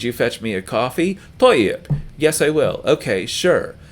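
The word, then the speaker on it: طيب: So this word is pronounced toyyib. Say that word to yourself, toyyib.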